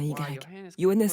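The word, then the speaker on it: Johannes: lois de keplerannes keplerz c'est j mais ça se prononce comme si c'était un yannes Kepler il l' prouvé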